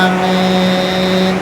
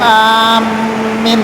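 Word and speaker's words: آمين: itu pertama dengan cara memanjangkan hamzahnya dan memanjangkan mimnya. Amin. Tanpa ditasdid. Jangan ditasdid. Kalau ditasdid rusak artinya. Jadi alifnya dipanjangkan, minnya juga dipanjangkan. Amin. Jangan bilang amin.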